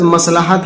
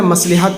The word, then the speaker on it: مصلحت: اگر کسی مصلحت سے، یہ لفظ مصلحت ہے، مصلحت پڑھتے ہیں لیکن اس کا صحیح تلفظ ہے مصلحت، اگر کسی مصلحت سے